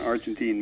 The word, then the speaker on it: Argentine: How do I pronounce that? Argentinian for about 3 months, and then someone corrected me. So it's an Argentine movie by Natalia Smirnoff that was adapted by